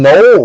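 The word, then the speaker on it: Jaylin Noel: Jaylen Null. I always thought it was Noel, but I heard them pronouncing it in the uh playoffs.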